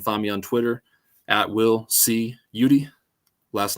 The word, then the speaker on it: Eudy: me on Twitter will Cudi last name EU d y That's me as you say it pronounced like Rudy um makes me want